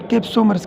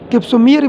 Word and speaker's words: कैप्सोमर: सब डिवीजन्स को हम कैप्सोमर्स कहते हैं, कैप्सोमेर। 28 कैप्सोमियर भी इसको कहते हैं, लेकिन असल में कैप्सोमर प्रोनाउंस होते हैं।